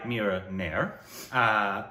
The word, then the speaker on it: Mira Nair: Directed by Mira Nair. Right, that's how you pronounce it.